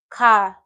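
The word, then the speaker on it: 가: So this is a perfect example of this first syllable. Car, to go. Car. Someone tells you car in Korea, it means go, right? So car is a perfect example of this first syllable.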